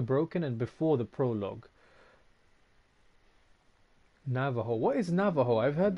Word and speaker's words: Navajo: and before the prologue Navajo what is Navajo I've heard that time before and I know that it's not pronounced with a J it's pronounced with a H I have no idea